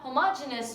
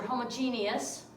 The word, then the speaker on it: homogeneous: mixtures we can have homogeneous mixtures or homogeneous for two pronounced both ways which means that mixture